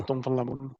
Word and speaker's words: Tom van Lamoen: Is it proper pronunciation? I can imagine a lot of... Yeah, Tom van Lamoen.